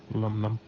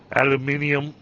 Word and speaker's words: aluminum: Aluminum is the proper pronunciation for it. Because the spelling of aluminum is different between the regions. Yep. That's why I always said, like, it doesn't matter how you say it, you're saying it correctly because it's spelled differently. It's spelled differently in the U.S. as opposed to the U.K. Or Britain.